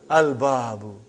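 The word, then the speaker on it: الباب: Al-babu. Is it moon letter or sun letter? Moon letter. You did pronounce lam.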